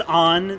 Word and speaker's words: Ann: Her name is Anne. Anne Shepard. Hey, the same name as the Persona 5 character. Nice. This actually coincides better than I thought. Actually, it's pronounced On.